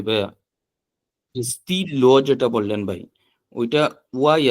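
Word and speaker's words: stylo: তারপর হচ্ছে বাট এখানে আপনার এটা হচ্ছে ই এর মতো উচ্চারণ হবে, ই, ই, লো, স্টিলো। স্টিলো।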